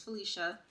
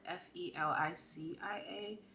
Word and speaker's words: Felisha: intro my name is Felicia it's spelled not your typical way most people spell it f-e-l-i-c-i-a but my name is spelled f-e-l-i-s-h-a it's just pronounced it's just spelled the way it's pronounced my dad thought he